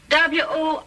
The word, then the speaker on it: Worcester: But it's spelled W-O-R-C-E-S-T-E-R. Worcester. Oh, yes, I see, yes.